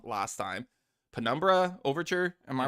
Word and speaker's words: Penumbra Overture: Penumbra Overture. Am I pronouncing that Yeah.